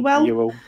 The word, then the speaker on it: Ewell: Ewell? Ewell. Yeah, thank you.